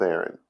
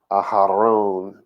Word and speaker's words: Aharon: So he's not just going to just shoot the breeze with Aaron, right? Aharon, to say his name properly.